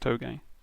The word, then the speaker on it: touge: racing and stuff, and he said toge, which was not how I pronounced it. I used to pronounce it like touge or something. But yeah, apparently it's actually pronounced toge.